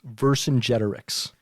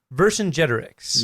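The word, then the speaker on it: Vercingetorix: know the word is pronounced the name is pronounced verse in generics verse in generics you got it okay all right we're gonna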